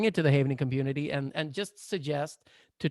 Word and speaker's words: Havening: Havening, as safe haven. At safe haven.